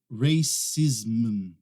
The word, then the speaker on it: racism: Toda vez que você vê uma palavra terminando com aquele ISM, põe na sua cabeça já. Essa é a dica para você. Você vai pronunciar ism. Ism.